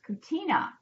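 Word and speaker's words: Kutyna: we had a conversation and her name is pronounced Katina Katina yes so it ended up that she's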